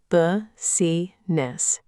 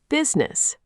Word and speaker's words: business: A, buh-si-ness, three syllables. B, business, two syllables. C, bis-ne-sses, three syllables. B, business. Bingo.